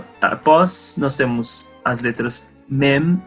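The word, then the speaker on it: מם: Se a boca se fecha, mem, a gente está pronunciando da forma correta.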